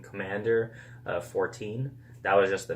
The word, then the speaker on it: Commandeur: Commander is an awesome last name, but the thing is, it's spelled E-U-R at the end. It's supposed to be pronounced Commander, and I didn't really want people to always mispronounce the name.